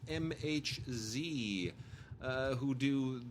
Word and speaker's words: MHz: And then really quickly, I just want to we love the people over at MHZ, which I used to mispronounce or mislabel as megahertz. It's MHZ.